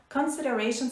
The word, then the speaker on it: consideration: contexto de direito contratual, consideration significa contraprestação, contrapartida. Vamos só olhar, fazer um parênteses para olhar a pronúncia. Consideration, a pronúncia do C-O-N não é igual à pronúncia de conceição, por exemplo. É con.